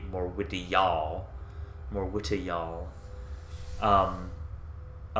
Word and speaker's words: Morwitijaal: shelter so she finds more widows all although i suppose the actual pronunciation would be more witty y'all more witty y'all um